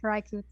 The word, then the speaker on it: Hiraikotsu: Hiraikotsu? Well, she never says the ooh part. Ooh. So it comes out more like Hiraiko's.